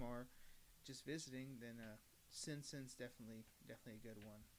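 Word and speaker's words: Cin Cin: personal favorites is uh simpson or chinchin it's a c-i-n-c-i-n so people i've heard it pronounced simpson i've heard pronounced chin chin so i don't know i'm going with simpson which i still need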